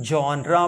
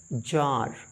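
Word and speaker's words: genre: 4 यहां देखिए अगला जी ई एन आर ई my dear learner इसे हम जनरा पढ़ते हैं या इसे हम पढ़ते हैं जार जनरा या जार इसका मतलब होता है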